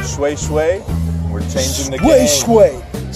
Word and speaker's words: shweshwe: Bo shwe shwe. Shwe shwe. Shwe, not nay nay.